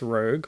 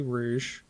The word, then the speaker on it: Rouge: Emy Dennis okay so the ad pronounced it as Rogue which is a common typo it's actually Rouge so poor quality control